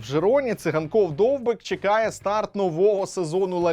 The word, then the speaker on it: Довбик: Каталонії переїхав Артем довбик і першим завданням Артема довбика у новому клубі було навчити іспанців правильно вимовляти його прізвище Артем довбік Артем довбик і